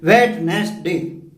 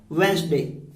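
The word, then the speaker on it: Wednesday: वेडनेसडे। Absolutely wrong, वेडनेसडे नहीं है ये, इसका राइट प्रोनाउंसिएशन है वेंसडे। इट इज वेंसडे।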